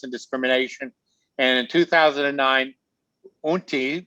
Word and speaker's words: Utne: And in 2009, Unti, which rhymes with chutney, magazine named David one of its 50 visionaries, along with the Dalai Lama.